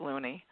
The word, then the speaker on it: Looney: named Jay Thomas Loney actually is pronounced loony and people say Loney as well he taught Shakespeare to